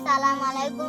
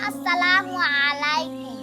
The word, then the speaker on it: আসসালামু আলাইকুম: আচ্ছা বন্ধুরা অনেকেই কিন্তু তাড়াহুড়া করে সালামু আলাইকুম বলে এটা কিন্তু ভুল বলি। বন্ধু একদম ঠিক বলছো। সালামের সঠিক উচ্চারণ হল আসসালামু আলাইকুম।